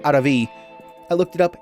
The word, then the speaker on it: Aaravi: So that is the guide to getting Aaravi, the Slayer, which I keep trying to say her name properly, and it just comes out as something gross, but it's supposed to be Aaravi.